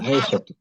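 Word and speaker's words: عائشة: দেখেন তো এই যে এই শব্দটা উচ্চারণ কি হবে আইসা আইসা আইসা আইসা বলেন আইসা হবে আইসা আইসা আইসা এখানে কি তানবিন দিয়ে পড়া যাবে আইসাতুন পড়া যাবে না না আইসা পড়া যাবে না কারণ এটা মামনুম মিনা সরফ বলেন তো এটা মামনুম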